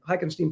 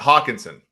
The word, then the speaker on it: Hawkinson: I love the way Augustine hockenstein plays am I pronouncing that right yeah I think it's Hawkinson Hawkinson excuse me I love the way